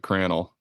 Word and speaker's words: Crannell: but spell Cran yeah c r a n n l l it's like flannel but cranel Ah that's so good